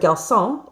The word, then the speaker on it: garçon: However, there are some words like garçon in French that it should make the K, the hard C sound, but it doesn't. And so we need to put that C, that little mark under the C, to make sure that, it's actually pronounced like an S.